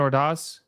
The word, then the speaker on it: Ordaz: Nathan Ordaz?